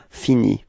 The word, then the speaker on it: finis: Okay, so you see that this verb is ending with a s, but then you don't pronounce it. All right, so it's je finis.